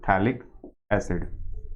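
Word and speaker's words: phthalic acid: था पी से है, बट थैलिक एसिड, इसमें आपका पी साइलेंट रहता है, बोलते हैं इसको हम थैलिक एसिड।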